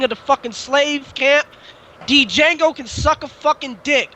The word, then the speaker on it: Django: The D is not silent, nigga. It is Django for him.